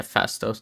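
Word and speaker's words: Phastos: Makkari, I I almost thought could have like been subtracted and um Is I mean, is it Fastos? Is that how you say his name? Yeah, Fastos.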